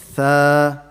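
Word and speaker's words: ث: The fourth one is tha. So what you do, you bring your tongue out. Don't recite it like a sin. Don't say sa. That's a sin, that's a different letter, right?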